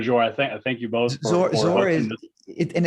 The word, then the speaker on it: Dhor: Zor is, and it's not easy because it's spelled DHOR, but it's actually pronounced Zor with a Z.